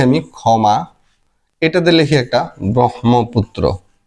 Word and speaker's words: ব্রহ্মপুত্র: একটা শব্দ লিখি আমি ক্ষমা এটাতে লিখি একটা ব্রহ্মপুত্র উচ্চারণে কিন্তু আবার এই যে হওয়ার কথা হ ম ব্রহ্মপুত্র কিন্তু হবে উচ্চারণ হবে ব্রহ্ম মহবুত্র আগে লিখতে হয় হ কিন্তু উচ্চারণ করতে হয়